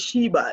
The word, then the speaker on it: Shiva: right my name is Shiva it's pronounced like a double e but it's a single she all right no now